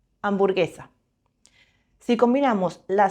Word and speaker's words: hamburguesa: La H nunca suena. Hoy, hamburguesa.